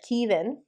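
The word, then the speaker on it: Caoimhín: it said because I've heard Kevin and Quiva so Quiva is this one but he even Kevin is his name yeah and it's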